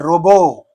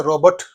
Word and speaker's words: robot: Robo. You said robo. That's the pronunciation. Don't say robot. Robot కాదు. Robo. T is silent.